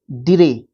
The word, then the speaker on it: drey: इन a tree, उसको डिरे बोलते हैं। मतलब DREY, डिरे या ड्रे, है ना, इस तरीके से आप इसको प्रोनाउंस कर सकते हो।